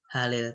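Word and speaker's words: هَلِ: Bacanya bukan hal tetapi halil. Karena kalau dibaca hal nanti nggak bisa dibaca lagi. Hal.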